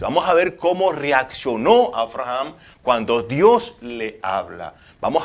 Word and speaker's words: Abraham: si estamos hablando de abraham si hay un amigo que conozco y me dice porque a veces las personas no pueden casi pronunciar mi nombre me dicen abraham cuando es abraham muy importante si aquí